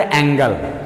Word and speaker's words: angle: तो पहला वर्ड आया डियर एंगल।